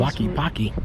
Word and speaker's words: Tlaquepaque: Tlaquepaque. Yeah. That's how you pronounce that.